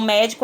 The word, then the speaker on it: médico: médico ótimo quantas vezes uma palavra já acentuado você nem precisa ter o trabalho de fazer aí essa pronúncia né porque é uma sílaba tônica então você aí já tá com o sinal aí já especificando para você que essa seria a sílaba mais forte então médico é proparoxítona pastel oxítona semente